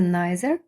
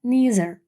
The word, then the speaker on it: neither: mustash nor a beard ще слово NE має дві вимови Це nier або neer дві вимови але один варіант на писанням